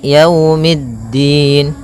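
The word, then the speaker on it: يَوْمِ الدِّينِ: E tapi dia iikiikiumin pada lafal ya di sini ada bacaan Lin yaitu itu berupa fathah bertemu dengan huruf wau maka yaumiddin kemudian mid langsung ke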